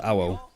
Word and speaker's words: Awo: Awo. Oh yeah, it is Awo. Literally just said it then. So Awo. 小车 It's like arrow, but Awo.